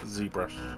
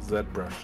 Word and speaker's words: ZBrush: oh this is uh zbrush or Zed brush as it should be pronounced ah piss off it's Z brush I do the low